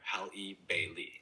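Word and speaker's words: Halle Bailey: Bailey's name is pronounced hal ei is the same as the common name Bailey. So together hal Bailey.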